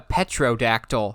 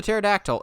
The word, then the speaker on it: pterodactyl: called a pterodactyl a petrodactyl and i'm going um no petrovac petrodactyl i'm going you do realize the whole gimmick of the pterodactyl is the p is silent that's where half the